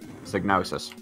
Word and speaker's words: Psygnosis: was published by Psygnosis sig notice that one that's how I pronounce it so anyway hang on